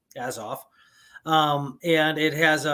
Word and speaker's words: Azov: can look it up a z o v as off um and it has